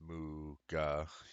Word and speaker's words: Muga: It is pronounced Muga, like a cow.